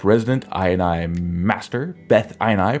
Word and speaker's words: BethINI: w the step resident i and i master beth eine pronounced bethany okay that's it's pronounced bethany is an attempt to restore decency to the